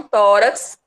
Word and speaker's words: tórax: Então, tórax, ela é acentuada. Mas é só porque terminou em X?